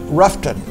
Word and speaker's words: Rutherfordton: There's about 4,500 folks tucked in there sort of between Spindale and Ruth in a little town called Rutherfordton, or Ruffton as it's often pronounced by locals.